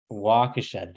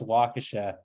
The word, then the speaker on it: Waukesha: Waukesha, thank you. Thank you, because I'm gonna show up there and now I'm gonna know that it's pronounced Waukesha.